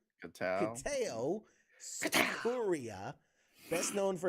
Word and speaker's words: Kitao: So this story says Kiatu Sakura. No, that's not how you pronounce that. Kitao? Kevin? Like way off. Sorry, James. Sorry, I don't know why I pronounced that so weird. No, it's Kitao.